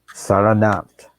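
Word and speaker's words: Sarnath: location that special location is called salon uh pronounced saranath and it has become one of the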